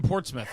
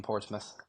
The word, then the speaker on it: Portsmouth: I read that you're from Portsmouth, right?